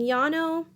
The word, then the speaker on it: Llano: two vocabulary words are Llano and Yano that's the same word pronounced different ways a lot of the times the double-l in spanish is pronounced with a yacht sound anyway the Llano or